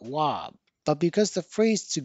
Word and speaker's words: は: but the spelling of wa as the subject particle remained. As you may remember, we always write the subject particle as ha, but pronounce it as wa.